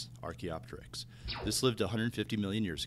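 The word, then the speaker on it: Archaeopteryx: past one of these examples is something called archaeopteris that's pronounced Arch opter Arch opter this lived 150 million years ago during the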